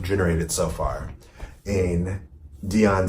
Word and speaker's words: Dion: with Diane why can't say her name right Diane Depp Dion Dion its Dion Dion okay my heads out of whack so